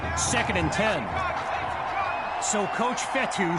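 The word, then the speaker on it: Fetu: and ten so coach fetty spelled f-e-t-u for the longest time i was pronouncing it coach fetta like feta cheese so let's just say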